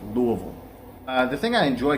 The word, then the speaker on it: Louisville: oh if you live here you call it louisville so lu uh vol it's like l-o-u-u-h-v-u-l-l is how how it sounds louisville uh the thing i